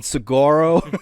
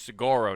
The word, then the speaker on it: Saguaro: I pronounce this one Saguaro. This one. You go to the east, it's Saguaro National Park. It's Saguaro in the west. You get rid of those G's and put those dubs in.